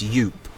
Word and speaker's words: Yup: I'm still calling him Yoop, it's Yoop. Yoop. Yoop that rhymes with soup.